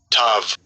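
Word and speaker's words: תו: Tav. Tav. Right, this pronounced as tav, right?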